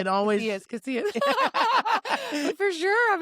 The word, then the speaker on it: Casillas: Casillas. How's it going? It's Yeah. fine. Casillas, it's fine. I was like, it's silent. Go back to my Spanish class. People always mispronounce it.